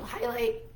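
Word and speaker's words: Hylyt: for frequent gentle bathing is a product called highlight it's spelled h-y-l-y-t and we like it because it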